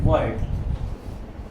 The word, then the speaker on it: Voigt: सो ये मेंशन करना पड़ेगा हमें according to Kirchhoff and Voigt। Ji silent है यहाँ पे, बैकवर्ड सेकेंडरी वेव